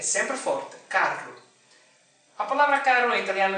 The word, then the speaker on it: carro: Em italiano, este som não existe. Portanto, também neste caso, esta palavra em italiano pronuncia-se carro. Roma, carro. O som é mais forte, é ainda mais forte, porque as R's são duas.